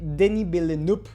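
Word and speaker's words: Villeneuve: También tenemos Prisoners del 2013 de Danny Bill Noop, creo que así se pronuncia ya correctamente, ya aprendí cómo hacerlo.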